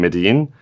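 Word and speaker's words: Medellín: best ice cream PWA ever in, let's say, Medellin, is that how you pronounce that? Perfect. Yes. So if you build the best PWA to order ice cream online in Medellin, then I don't know about that, especially if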